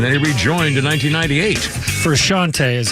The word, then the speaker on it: Frusciante: Frusciante is how you pronounce it.